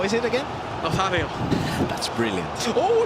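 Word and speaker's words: Nazário: I've been practicing the R9 pronunciation. So, how is it again? Nazario.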